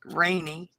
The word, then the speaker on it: Renee: My daughter named my granddaughter, one of my granddaughters, Rainy.